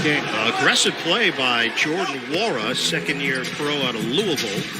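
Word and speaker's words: Nwora: Long rebound to Wara. So the N is silent.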